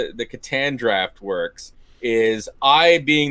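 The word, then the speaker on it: Catan: you how you pronounce uh katan katan it's pronounced katan not an uh yes katan for germany god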